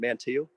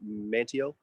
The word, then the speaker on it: Manteo: a croatoan native named mantillo or manteo you'll hear it pronounced both ways and um the the